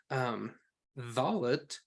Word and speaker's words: Dalet: But Dalet is pronounced between the teeth. So you take the tip of your tongue and put it between your teeth, kind of like you're going to pronounce the English word the.